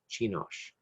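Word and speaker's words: Csinos: Chinosh. And that's spelled C-S-I-N-O-S.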